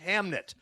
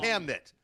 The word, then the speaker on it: Hamnet: about the creation of Hamlet, but it is pronounced Hamnit. It is correct. Trust me, though, IT'S A NET FILLED WITH IT'S ABOUT THE CREATION of Hamlet, but it's But it's called Hamnit.